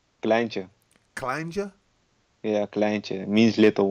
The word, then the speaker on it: kleintje: How do you say that word? Kleintje.